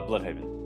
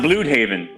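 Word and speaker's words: Blüdhaven: it's BL it's pronounced Blue Haven it's like German or whatever even worse ger thank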